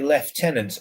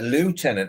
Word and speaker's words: lieutenant: the question as to why the British say lieutenant, or they used to before the sort of American hegemony in the English language, and the Americans used to say lieutenant, and it's because it's LIEV and the U and V with it was lieutenant.